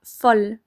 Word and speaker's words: fol: chien fou en revanche si fou est devant une voyelle ou un h muet on dira fol un fol espoir mais attention c'est vraiment